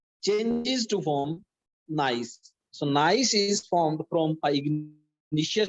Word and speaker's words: gneiss: Next metamorphic rock is gneiss. Student, look at the spelling of gneiss, Gneis. Gneiss, G is silent here.